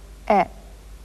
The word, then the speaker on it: へ: You know how to pronounce this too. But in sentences, it does double duty and also serves to represent the particle え。